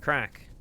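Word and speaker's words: craic: Well, as the Irish say, it's good crack. They spell it C R A I C, though.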